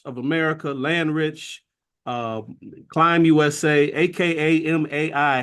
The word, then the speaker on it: Akamai: He has founded and led numerous impactful organizations, including Asset Builders of America, Landrich, Climb USA, aka MAI. How do we pronounce that, Bob?